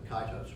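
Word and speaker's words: Kitos: you look it up you'll look up something that's spelled k-i-t-o-s of the kaitos war which actually named after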